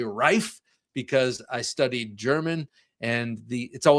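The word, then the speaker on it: Reeve: Now, my my instinct is to say rife because I studied German and the it's always the second vowel that's pronounced, but I'm going to say reef because that's how I've heard everyone else say it.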